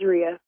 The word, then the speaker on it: Ria: baby okay so uh am I mispronouncing your name is it Ria yeah it's Ria Ria okay all right so so